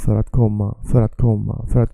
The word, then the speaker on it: för att: You see here how I connect för and att. För att. The R is almost not I want to say visible. It's almost, you can't almost hear it.